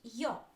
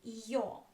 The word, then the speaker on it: Ё: So yo is always stressed.